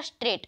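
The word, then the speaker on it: straight: स्ट्रेट में भी जी एच का आवाज नहीं आ रहा, स्ट्रेट हो गया।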